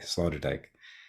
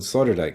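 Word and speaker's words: Sloterdijk: because even the name might be hard to spell it's s-l-o-t-e-r-d-i-j-k Slaughter Dyke and uh Dutch born if you're wondering like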